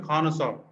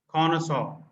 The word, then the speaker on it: connoisseur: This is pronounced connoisseur. It is a French word, connoisseur.